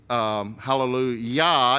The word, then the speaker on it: hallelujah: And so actually, hallelujah, even though in English it's spelled at the end J-A-H, it's pronounced Y-A-H.